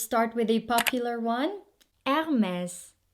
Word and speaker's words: Hermès: with a popular one hermes not hermes say it with me hermes another thing about the french people is that when they pronounce their words they don't really open their mouth wide so you say hermes hermes no it's hermes is the last name